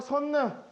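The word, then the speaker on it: 선릉: 마지막 선능, 지명이죠. 지명. 선능이라고 발음하기도 하고 릉이라고 발음하기도 하는데 인정은 선능을 인정하더라.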